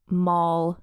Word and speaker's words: Moll: So there's Nell Gwyn, Barbara Villiers, Moll Davis. I learned how to pronounce that from a Tits Out Brigade member who generously explained to me it's like Molly, but without the Y.